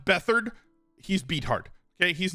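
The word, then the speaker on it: Beathard: against Tampa Bay uh they got run then beat hard played last week and they they did fine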